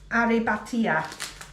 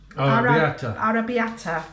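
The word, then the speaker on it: arrabbiata: pasta it's for pasta aribatia no that's not how you start to pronounce it at all how do you pronounce it arab arabiata yeah and it's got uh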